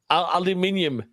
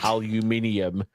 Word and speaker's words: aluminium: Aluminium, and that is the correct way of pronouncing it, by the way. Aluminium.